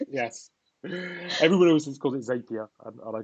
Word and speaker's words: Zapier: Zapier, which rhymes with happier. Yes. Everyone else calls it Zapier, and I call it Zapier.